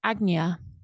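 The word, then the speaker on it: Ajna: completely mind blown by it um so it's pronounced AGA in Sanskrit and this translates to foremost and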